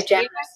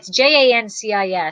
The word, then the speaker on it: Jancis: I always say Janice. Yeah, but it's Jancis.